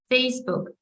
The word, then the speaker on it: Facebook: Ну, тобто, ми вимовляємо назву соцмереж, наголошуючи перший склад. So we say Instagram, Facebook, TikTok, YouTube, content, laptop, internet.